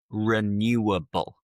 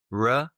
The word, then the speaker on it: renewable: Some people will sometimes mispronounce this word. And it is renewable. Rewable.